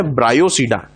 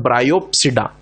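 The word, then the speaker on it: Bryopsida: Moses का नाम है ब्रायोसीडा। यहां पर पी का यूज नहीं करना है क्योंकि पी साइलेंट है। हेपेटिकोसीडा, एंथ्रोसीडा और ब्रायोसीडा, ना कि हेपेटिकोप्सीडा, एंथ्रोप्सीडा और ब्रायोप्सीडा।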